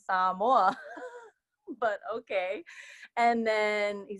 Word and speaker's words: Samoa: and he said oh you're saying it wrong he said oh you mean Samoa and I'm like no I mean saw more but okay and then